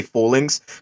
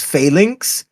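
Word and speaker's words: Falinks: so apparently it's it's failinks but I always say fall links because they fall in line with each other so I just thought well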